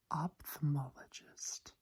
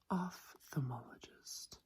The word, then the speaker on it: ophthalmologist: so this one again is commonly pronounced as ophthalmologist again that is understandable as that is how it's spelled however it should be ophthalmologist of ophthalmologist that P becomes an F ophthalmologist Ophthalmology that's a